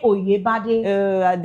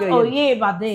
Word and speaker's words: Oyebade: No, not Bade. Please don't use phonetic to pronounce her name. I don't do phonetic. I try. I don't try. Please excuse me. You use Nigerian English. It's Adebimpe Oyebade. Not Oyebade.